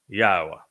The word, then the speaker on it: Yahowah: but one name and it is pronounced yaha and I have proven